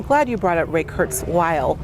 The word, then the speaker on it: Kurzweil: I'm glad you brought up Ray Kurzweil. I want to make sure I pronounce his name, because I think a lot of people say Kurzweil. It's Kurzweil, I believe.